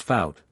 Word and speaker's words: faut: Il faut, pronounced faut, pas passer par là.